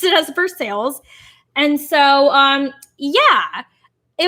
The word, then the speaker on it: Versailles: like to pronounce things properly so yeah they pronounce it as for sales and so um yeah it was really fun